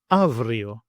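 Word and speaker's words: αύριο: Then we have A and I, and together they make the sound av, and sometimes af. As in the Greek example, avrio, avrio.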